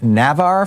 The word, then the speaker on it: Navarre: John in Navarre, Florida. Am I saying it right, John? Yeah, Navarre, Florida.